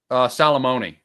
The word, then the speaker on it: Salamone: John Salamone, I'm pronouncing that right? Salamone, right? Salamone. Salamone, okay.